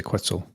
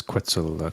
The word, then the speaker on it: Quetzal: name with salt code no you can just say quetzal quetzal quetzal yeah i like that question uh if you want to pronounce it correctly it's quetzal quad quintile quant quad